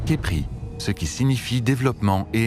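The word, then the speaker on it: Khepri: dans l'ancienne langue égyptienne le mot scarabé se prononce Kepri ce qui signifie développement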